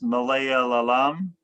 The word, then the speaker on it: Malayalam: So what Darren is talking about he his family is from this Malaya lam. How do you pronounce it?